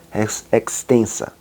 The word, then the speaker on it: res extensa: ou res cogitans e o res extensa ou rex extensa, que a gente pronuncia assim, rex extensa, que é o pensar, que é de onde parte tudo, o axioma principal.